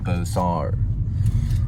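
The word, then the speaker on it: Beaux-Arts: Fort Worth it's built in the architect of bosar with which is B Au u x arts and they pronounce it bosar and it was done by Wyatt C Hedrick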